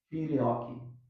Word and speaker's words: filioque: Debate filioque. É isso mesmo, filioque? A pronúncia está certa?